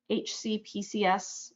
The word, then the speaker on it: HCPCS: So the sample I included here, HCPCS, we pronounce that HCPC, code E2510, that is the